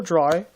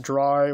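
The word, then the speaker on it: Drei: Yes, this guy's name is actually pronounced Dry, which is I guess German for the number 3.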